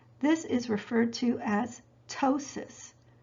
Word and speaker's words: ptosis: is referred to as ptosis it's spelled p-t-o-s-i-s but pronounced ptosis drooping of the eyelid